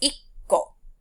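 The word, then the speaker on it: いっこ: The ko doesn't change, but it is the number that sort of gets shortened. So 1 is ikko, 6, rokko, 8, hakko, and 10, jukko.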